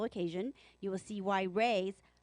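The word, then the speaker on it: Rui's: party a special occasion you will see why Reyes spelled r-u-i apostrophe s Shanghai Bistro is truly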